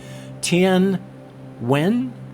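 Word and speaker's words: Tien Nguyen: Gave a couple different ways to do it. One of them just went, when wing, very much like that, whereas most of the other pronunciations said Tien Wen.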